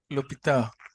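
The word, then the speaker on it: l'hôpital: the world yeah so the H does not sound here and if the age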